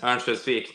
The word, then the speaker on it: Örnsköldsvik: Same thing as people say about Ottawa, that Örnsköldsvik, there you go, that's the right pronunciation.